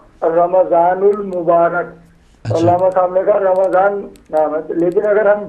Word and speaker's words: رمضان: اچھا رمضان، رمضان نہیں ہے، اچھا، رمضان، میم کے اوپر بھی زبر ہے، زبر ہے.